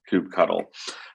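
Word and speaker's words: kubectl: my podcast and yes my license plate does say cube cuddle which means i am authoritative on how to pronounce it which is coop cuddle um but enough about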